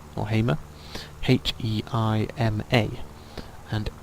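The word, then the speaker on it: Heima: is sigur Ross and the film is called Heimer or Hamer h-e-i-m-a and it's really good because it's a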